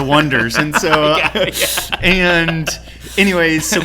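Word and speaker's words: Oneders: The Wonders, and they spell it O-N-E, and people would call them the O-Neaters. Oh, gotcha. And they're like, no, we're the Wonders.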